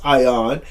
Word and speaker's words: ION: energy of Internet Network ion pronounced ion currency is the top